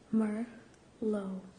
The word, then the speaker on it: Merlot: tracking number for Merlot Merlot is a type of wine m.e r l OT mer low it looks like it's spelled Merlotte but that isn't the case number five vintage v